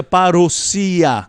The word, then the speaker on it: parousia: volta de Jesus Cristo, a parousia, ou parousia. Eu prefiro a pronúncia parousia, que é uma palavra grega, que significa vinda.